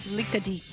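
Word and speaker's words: Likadik: Like Greek, Lickadick. It's pronounced Lickadick.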